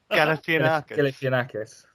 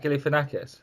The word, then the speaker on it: Galifianakis: you pronounce his surname? Galifianakis.